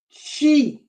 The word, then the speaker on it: Xi: let me write the name she as in she Jing XI XI the spelling in the G